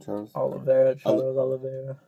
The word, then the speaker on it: Charles Oliveira: Charles Oliveira.